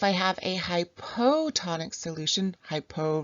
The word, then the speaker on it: hypo: have a hypotonic solution hypo rhymes with low this low solute concentration